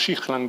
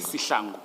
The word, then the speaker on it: Sihlangu: Is it pronounced Shihlangu or Sihlangu? Sihlangu. Sihlangu. I was several of your experts, not your experts, your officers yesterday were using Shihlangu.